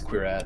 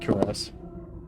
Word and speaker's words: cuirass: Yeah, it's queer ass. Queer ass. Wow. No, it's not cuirass. No, it's queer ass. It's like That's something else.